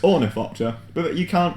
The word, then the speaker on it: Ornithopter: Omnithopter. Don't you mean Ornithopter?